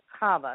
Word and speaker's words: Chava: It's actually Jewish. And the CH is pronounced like you've got pneumonia. Yes. Chava.